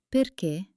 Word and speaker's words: perché: It tells you to hit that last syllable with extra energy. Let's try some common words where the accent is king. Repeat after me. Caffè. Città. Perché?